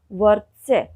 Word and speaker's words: वर्त्स्य: वर्त्स्य, य के ऊपर रेफ र लगा हुआ है और उससे पहले दो स्वर रहित व्यंजन हैं, लेकिन र का उच्चारण आप देख रहे होंगे कि व के बिल्कुल बाद में उन दोनों स्वर रहित व्यंजनों से पहले उसका उच्चारण हो रहा है।